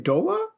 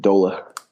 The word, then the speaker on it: Doehla: get him on mic how do i butchered your last name Dola you got it and you nailed it Dola it right it took